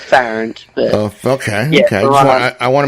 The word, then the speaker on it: Farrant: It's Farrant. Farrant? Yeah. It's Farrant.